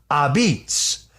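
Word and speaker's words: apizza: His place is called Abitz which of course is the pronunciation of uh the word pizza spelled a p I za that's how Italians say it.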